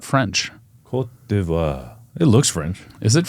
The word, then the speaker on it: Côte d'Ivoire: I don't know how to say it, and Côte d'Ivory. d'Ivoire. You're French. You should know that. I don't think Ivory Coast is not French. Côte d'Ivoire.